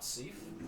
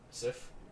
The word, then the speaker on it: Sif: Hey, it's not Seif. That thing That's looks nice. maybe cool. Great Grey Wolf. It's Sif.